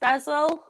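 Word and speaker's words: Hessle: Harrogate, Alsforth, which is in Leeds, and Essel, which begins with an H. It does begin with an H, yeah, but it's pronounced Ezel.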